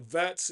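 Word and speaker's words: Wirtz: You got to pronounce it Vats, even though it's a W.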